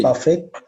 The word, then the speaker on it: buffet: buffet, buffet, buffet. A No, meal you don't at pronounce the T. You say buffet.